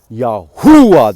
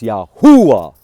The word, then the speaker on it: Yahuah: of the name YH wh the tetr Gramatan yahua that's how it's pronounced yahua from the beginning of time from the beginning